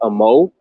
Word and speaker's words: Amoo: I think his last name is pronounced Amo. His last name is spelled like Amoo.